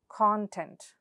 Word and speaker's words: content: For example, now the first rule is, when you have a two-syllabled noun or an adjective, the first syllable takes the stress. For example, what are those words? Rainy, samples, carton, content.